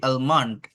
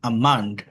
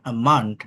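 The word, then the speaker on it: almond: যেমন এ এল এম ও এন ডি, আলমান্ড বলি আমরা, বাদাম যেটাকে বলে, কাঠবাদাম, আমান্ড, আমান্ড, এরকম হয়। হ্যাঁ, এলটা থাকে বাট সাইলেন্ট।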